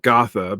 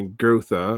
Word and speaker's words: Gotha: I'm gonna say Gotha because I think it's closer to right than my girtha and my gerta.